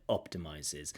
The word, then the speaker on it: optimizes: optimizes if it optimizes so stress on the first syllable there optimizes and I know maybe there's a a shift in the word stress uh optimizes maybe there's an intentional shift for dramatic effect but I still think